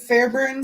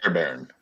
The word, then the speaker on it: Fairbairn: You guys know the Texans kicker, Kaimi Fairburns? Yeah, Kaimi Jaime Fairburns. Fairbairn.